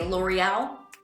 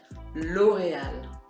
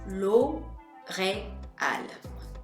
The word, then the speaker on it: L'Oréal: As we would say in English, we'd say L'Oréal, but in French, we're gonna say L'Oréal. You want to make sure that you break up each of the vowels. L'Oréal.